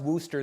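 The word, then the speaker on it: Worcester: Now, uh, for a name pronounced Worooster, that word has too many Rs and E's, not enough O's, and a C just along for the ride.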